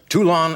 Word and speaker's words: Toulon: Did I pronounce the town right? Is it Toulon? Toulon. Toulon, Yes.